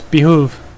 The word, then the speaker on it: behoove: Behoove? Behove? Hell? It's behoove.